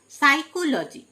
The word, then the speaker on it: psychology: সাইকোলজি, PSYCHOLOGY, সাইকোলজি, P silent, মানে মনোবিজ্ঞান।